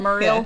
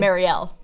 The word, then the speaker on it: Mariel: Yeah, it's technically Mariel.